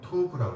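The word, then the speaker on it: טוֹב: 우리말 성경에는 톱 이렇게 나와 있죠. 돕다 이렇게 나와 있는데 이것이 원래 발음대로 하기에는 토브라고 그래요. 한번 해보세요.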